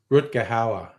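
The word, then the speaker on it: Rutger Hauer: Matthew Brick and is how do you pronounce his name? Rut Gahawa.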